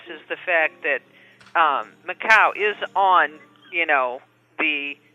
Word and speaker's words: Macau: about macau i think i said that right macau you did say it right macau yes do